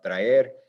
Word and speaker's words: trae: This is actually two syllables, tra and e. So this syllable is our second to last syllable.